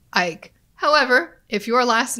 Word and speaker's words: Icke: This individual's name is spelled I-C-K-E, which is probably Ike.